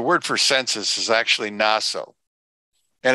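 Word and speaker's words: נשא: Naso is spelled Nun, and it's not a shin, but a sin, and an aleph. Naso.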